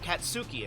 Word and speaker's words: Akatsuki: Sorry, I was saying it earlier and I kept saying it differently, but Akatsuki, I think, is actually how you say it.